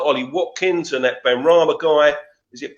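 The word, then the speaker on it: Benrahma: He's got players there like Ollie Watkins and that Ben Rama guy. Is it Ben Rama?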